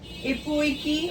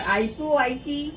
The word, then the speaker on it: Ipu Iki: Now the winds were again collected in Ipu Iki or Ipu Iki, whatever you want to pronounce, both the pronunciations are correct.